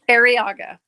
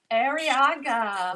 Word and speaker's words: Araga: say your last name araga araga unless you want to roll your ours we are so excited